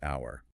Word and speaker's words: hour: notorious pair of all, dealing with silent letters. Hour versus hour. English spelling is just a practical joke sometimes, I swear. It truly is. The word for 60 minutes is hour, spelled H-O-U-R.